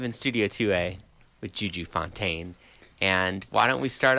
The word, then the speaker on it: Fontaine: American like Fontaine. And it's funny because like I had to learn French pronunciation like when I was in music school. So, but no, I just JuJu Fontaine, like American.